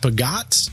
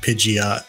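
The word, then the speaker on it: Peugeot: I think it's pronounced Pagot. P-E-U-G-E-O-T. I feel like we saw that in GTA, but I'm not sure. Yeah. I called it like Pidgeot, but I know it's not that.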